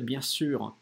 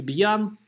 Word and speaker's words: bien sûr: Н-носовая здесь. Не бьян, а Н-носовая после йод. Bien, носом после Н-носовой. И Н это Н-носовая после йод. Bien sûr произносится очень остро, как будто бы сир. Только губы вперед. Сюр. То есть не сюр.